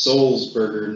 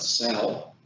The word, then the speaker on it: Salzburger: tell the speaker to pronounce salzburger as seoul's burger not sal that might be a